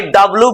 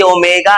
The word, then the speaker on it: ओमेगा: ये डब्लू मत पढ़ना, ये डब्लू नहीं है, ये ओमेगा है। वो एंगुलर वेलोसिटी को ओमेगा प्रोनाउंस करना।